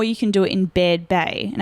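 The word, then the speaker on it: Baird Bay: can do it in bed Bay and I'm hoping I say it right it's b-a-i-r-d so I I heard other people say bad babe but hopefully I do say it correctly um it was about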